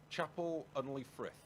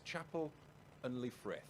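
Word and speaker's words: Chapel-en-le-Frith: the P the the capital of the peak Chapel unley Thrift I had to revise how to pronounce that because I've got in trouble a lot recently from a pronunciation of names is Chapel unli frith only frith it's spelled Chapel hyphen en hyphen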